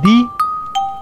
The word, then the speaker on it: die: Y que cuando la I va primero, I, E, como en di, la I hace callar a la E.